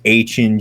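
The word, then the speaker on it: Etienne: think the signing of Travis Hin Jr. and that's how you say his name. Found that out actually. Yeah. Not ETN.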